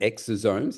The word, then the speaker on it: exosomes: It it's interesting because when I read about like NK NK cell derived is it exoomes? Is that how you pronounce it?